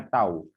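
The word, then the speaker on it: τ: Nah, ini seperti huruf T ya, seperti huruf T. Ini dibacanya tau.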